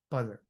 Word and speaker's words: butter: Butter is um when you when you listen to Americans say it, they it's almost buddter.